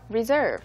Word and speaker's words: reserve: 바로 Okay, you have to say make a reservation or reserve. 맞습니다. 그래서 reserve가 바로 동사죠. Reserve. Mm-hmm. 조금 발음이 달라져요.